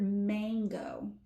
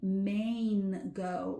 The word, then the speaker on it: mango: Um as an example the word mango. Now, you might think you're hearing a long a sound, but you're not actually saying mango, like the state maine. You're not saying mango. You're saying mango with that.